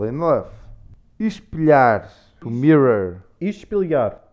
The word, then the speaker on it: Espelhar: Espelhar. Espelhar. When you have an L and an H. It's a lhe.